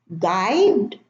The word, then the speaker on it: guide: Okay, now the first column, I have build, guide, biscuit, guess, guest, guilty, mosquito, mosque, vogue, rogue. Now build, we don't pronounce the U. Guide, same thing, no U.